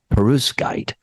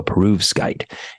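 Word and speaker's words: perovskite: reduce it to carbon monoxide and oxygen using perus guide I hope I'm saying that right I practiced it a couple times material made of crystalline mineral latticework so peruv skite and that's spelled p-e-r-o-v-s-k-i-t-e okay so perus guy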